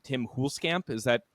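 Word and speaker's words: Huelskamp: probably Gonna Miss pronounce his last name Tim coolscamp is that correct uh pronunciation there very very close Tim fuels Camp fuels Camp okay um it's one of those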